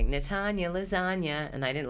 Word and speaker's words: Natanya: So I'll be like, just say like this, Natanya, lasagna.